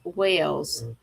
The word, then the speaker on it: Wales: And you know, the other thing is is the town that I live in is called Lake Wales, like Welsh.